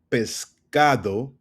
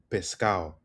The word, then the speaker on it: pescado: So, pescado becomes pescal. Pescal. So you see how we don't hear the ado it becomes pescal pescal right where are